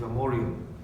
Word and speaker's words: Amorium: And he says that this person told me to go to Amoria, or the modern pronunciation is Amorium, which again you can look up.